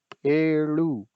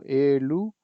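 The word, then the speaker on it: ಏಳು: ठीक है, जैसे क्लास टाइम मैंने बताया था कि आपसे अगर ला वर्ल्ड का ला नहीं बनता तो आप ला भी उच्चारण कर सकते हैं स्टार्टिंग में, दैट्स नॉट अ प्रॉब्लम। ठीक है, तो एलू और एड़ू ऐसे करके इसको पढ़ते हैं हम।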